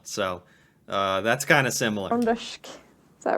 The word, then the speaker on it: Trøndersk: Trøndersk. Is that right? Is that how you say it? Trøndersk.